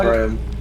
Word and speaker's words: Graham: Graham, not Graham. Some people say gram in the US for some reason, and it's like, no, gram is like a measurement of weight, I guess. Gram is G-R-A-M.